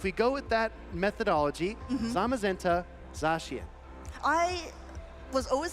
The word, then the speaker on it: Zamazenta: here oh okay okay I've heard this one mispronounced to the nth degree but I think a really easy way to remember is it's uh it's uh I guess brother Pokemon right zamazenta we don't say zenta right okay yeah that's true